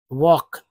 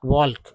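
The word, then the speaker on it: walk: हैं तो mind less L के में जो है एल साइलेंट है वक वक नॉट वाल्क वक एस आर को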